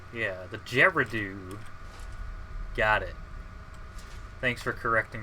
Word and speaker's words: Gerudo: some reason my mouse wasn't uh oh yeah gerardu yeah the geradoo got it thanks for correcting my pronunciation for no pronunciations um what was i